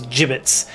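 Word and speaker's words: gibbets: Yeah, it's J as in jam. So it's jibbits.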